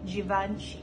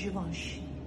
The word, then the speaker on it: Givenchy: Remember to pronounce it correctly because I hear a lot of people say Givenchy or Givenchy. No. It's Givenchy.